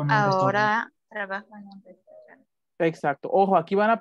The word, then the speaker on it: Restaurant: Las palabras francesas, los alemanes las pronuncian tal cual, como naranja, orange, con la R más, ya saben, la R francesa, gutural en la garganta, orange. Es el caso de restaurante, restaurant, la van a pronunciar en francés.